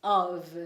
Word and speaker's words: of: Mas na hora de falar o of, lembra que a gente tem que trocar o F pelo V.